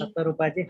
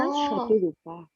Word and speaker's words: Shatarupa: Shatarupaji, Hare Krishna. Please Hare Krishna. Hare Krishna. That is Shishupal. Yes, Mataji. What's your name? It's a Bengali name. It's pronounced as Shatarupa.